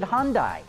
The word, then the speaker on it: Hyundai: execs from Korea and they all pronounce it Hyundai in fact the US is the only country in the world where their American marketing department wants us to pronounce it Hyundai sorry but I'm not falling victim to a marketing Ploy I'm pronouncing it like the people who run the company pronounce it and Pedro for nandez